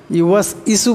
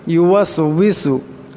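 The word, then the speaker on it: يُوَسْوِسُ: ইউওয়াসউইসু ইউওয়াস ইসু পড়বেন না, ইউওয়াসউইসু। ওয়াবের উচ্চারণটি করতে সময় ঠোঁট দুটা গোল হয়ে যাবে।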